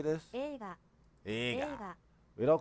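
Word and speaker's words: 映画: Eiga.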